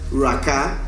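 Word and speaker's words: רקע: Y rakya a su vez viene de la raíz que se pronuncia raká.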